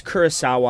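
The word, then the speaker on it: Kurosawa: It's Kurasawa.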